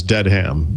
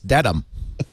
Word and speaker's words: Dedham: asked or the woman had pronounced it as dead ham you know and i kind of raised my hand i said actually it's uh it's a dedham no you're wrong it's dedham if you were from